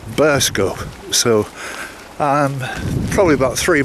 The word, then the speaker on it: Burscough: quite difficult on paper it looks like burst cough c-o-u-g-h but in actual fact it's pronounced burst go so i'm probably about